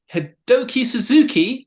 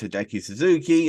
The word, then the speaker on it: Hideki Suzuki: gonna attempt to either I know it's Hideki Suzuki uh former NXT trainer